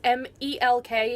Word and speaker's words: Melk: out to see the town of milk that's mal que you can see in